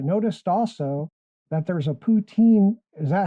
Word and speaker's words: poutine: poutine restaurant in town I think they say Putin Putin I don't know you have to have a little bit of a French accent since we're so close